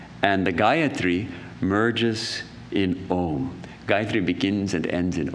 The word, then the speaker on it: Om: The universal mantra, the first mantra, is Om. And Om is said to have four quarters. The akara, the ukara, the second letter, u, the makara, the m, the m sound at the end, and then the fourth is silence.